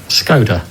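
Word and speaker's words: Skoda: welcome to training Simon where do we work scod not scoda it's pronounced scod so we've been saying it wrong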